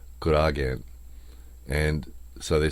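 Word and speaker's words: コラーゲン: The Japanese pronunciation is kuragen.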